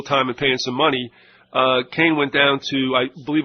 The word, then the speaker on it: Kahn: He pronounces it Kane. It's K-A-H-N.